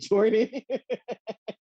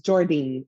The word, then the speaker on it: Jordyn: do that tribal wreck said jordan and when you answer that phone and you was like it's jordyn i was like oh that's how you say it oh i have